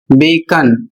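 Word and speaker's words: bacon: यहां पर अगला शब्द है बी ई सी ओ एन और इसका उच्चारण होता है बेकन।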